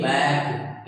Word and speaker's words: back: जैसे BACK, आप देखेंगे के ठीक पहले सी आ रहा है, और अगर के ठीक पहले सी आ रहा है तो हम सी को नहीं रीड करेंगे। The word is BAK बैक। यहाँ पे सी की कोई नीड नहीं है, सी को आपने नहीं पढ़ा।